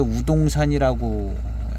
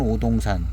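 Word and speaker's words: 乌岽山: 봉황산에는 이제 오동산이라고 있는데 우동산이라고 한국 발음은 오동산 중국은 우로 이렇게 해서 우동산이 있는데 봉황산의 우동산에서 나오는 인제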